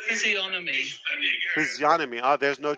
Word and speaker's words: physiognomy: It's pronounced physiognomy. You cannot rethink. Physiognomy. Physiognomy. Hold on. Let me see if he He's says pronouncing it a G.